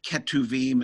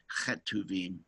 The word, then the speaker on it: Ketuvim: So in any case, it's just a pronunciation thing, and Ketuvim is equally acceptable as Chetuvim.